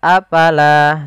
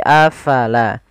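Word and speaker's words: أَفَلَا: Kemudian afalaa taqilun. Kemudian pada lafal afala fa harus alirkan nafasnya la jangan dibaca afala tapi afala.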